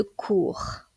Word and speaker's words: cours: la phonétique internationale de cours cours il ne faut pas confondre cours avec un S avec un autre mot qui se prononce de la même façon court mais qui lui